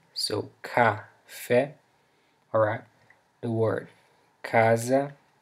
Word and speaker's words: casa: Alright, so the letter C, the letter C that begins a word usually sounds like a K in English. For example, we have the word café, which means coffee, so café, alright, the word casa, casa, which means house.